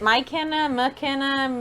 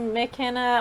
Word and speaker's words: Mykenna: I was like, is it Mykenna, Mykenna? Like, Yeah, you basically pronounce it like it would be an MCK.